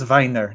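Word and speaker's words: Wiener: Weiner blute or oh so it is Viner not Vine oh vener will be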